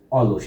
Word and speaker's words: অলস: তার মানে অস্বাভাবিক উচ্চারণ আমরা বলছি স্বাভাবিক উচ্চারণ হিসেবে এইযে অলস এটা কি বলতো তোমরা বলতে পারো অলস অলস অলস কয়টা অক্ষর দুইটা।